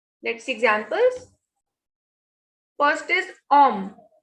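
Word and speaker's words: homme: First is om. H is silent. As I told you, we don't pronounce this H. And whenever E is at the end, it has no sound. So this is om, meaning is man.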